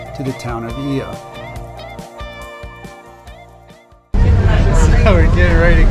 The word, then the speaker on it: Oia: Ios? Did I said it wrong? You said it wrong. Ia. That's how you say it.